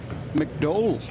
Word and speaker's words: McDowell: McDowell or McDowell? McDowell. Oh, McDowell. Actually is the way it would be pronounced in Northern Ireland.